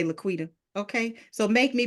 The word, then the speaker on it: LaQuita: calling my name wrong they say la quenta Laquisha Laquanda laquia don't know how they get laquia from Laquita but I'm like listen